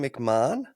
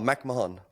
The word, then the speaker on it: McMahon: to say it, but McMahon. in Australia it's McMahon, and in America it's McMahon. So There you yeah, go. it's McMahon. Irish surname, and McMahon is the correct way to say it.